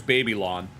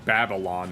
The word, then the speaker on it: Babylon: Oh, and there's Baby Lawn or Babylon as he's officially pronounced.